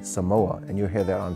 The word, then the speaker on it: Samoa: And another thing I would like people to understand is that when you see the word Samoa, to pronounce it properly, Samoa. And a lot of people will say Samoa, and you hear that